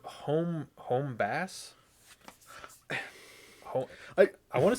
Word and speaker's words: HomeBass: Home base, like your home base. That's what I'm thinking. HomeBass, Yeah. but it's spelled HomeBass. Yeah. Well, I mean, yeah, but it's Like, it's base because yeah, we did this already. It's base because the Treble.